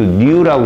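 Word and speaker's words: ν: 요거 V 아니에요. 그냥 빛의 진정수 뉴라고 읽어요.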